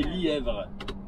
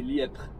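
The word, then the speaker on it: Lièpvre: Je pensais que ça se disait Lièvre, mais c'est Lièpre. On dit pas, on prononce pas le V. C'est un V muet.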